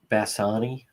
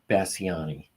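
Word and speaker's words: Basignani: I'm not pronouncing her name correctly, but I'll spell it. Um Casey Bass Basani Basani B A S I G N A N I Casey Bassani of Johnston.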